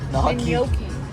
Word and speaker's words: gnocchi: Here's some ganache, how do you say it? Gnocchi. Gnocchi. Gnocchi.